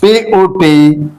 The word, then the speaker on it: put: But here you see, here is one word, P-U-T, put. O sound here. This U is pronounced as O sound, put.